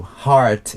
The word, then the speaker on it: heart: they forget to actually pay attention to the vowel heart yeah so so they think of H and R that's it so yeah so heart is usually very difficult for people to pronounce what I hear is hat hat is Korean way yeah klish it's